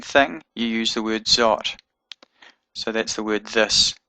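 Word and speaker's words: זאת: Otherwise, the word is zot. Zayin Aleph Tav. Zayin Holem Aleph Tav. Zot. So that holem gives it an oh sound. Zot. So here we have the Aleph having a oh sound from the holem.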